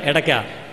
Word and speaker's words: ഇടയ്ക്ക: അടയ്ക്കയല്ല, എടയ്ക്ക. എടയ്ക്ക, ഡക്ക എന്ന് പറയുന്ന സംസ്കൃത പദമാണ് ഇടയ്ക്ക എന്നായിട്ട് ഉച്ചാരണം മാറിയത്.